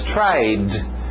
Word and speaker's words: tried: To try, passado regular, som de D no final, apenas tried, tried.